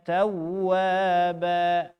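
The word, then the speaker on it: تَوَّابًا: Contoh, innahu kana tawwaba. Nah, itu keliru. Nah, yang benar, innahu kana tawwaba. Tawwaba tasydid. Dihentak.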